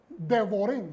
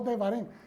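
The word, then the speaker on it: דבורים: Estas son las palabras de redarguyo porque la Torah es como las abejas, Devorim, no Devarim. Son las mismas letras en hebreo. ¿Ok? Pero aquí cuando se refiere a abejas se pronuncia Devorim, abejas, que dan miel dulce, pero sus ponzoñas son dañinas.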